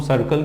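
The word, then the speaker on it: circle: अब मुझे बताओ इसको हम लोग करकल क्यों नहीं बोलते, इसको हम सर्कल क्यों बोलते हैं।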